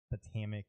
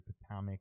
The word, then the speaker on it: Potomac: Potomac is spelled like the river in Washington, D.C., P-O-T-O-M-A, not Potomac or Potomac or whatever else people say. It's Potomac. You nailed it, yes.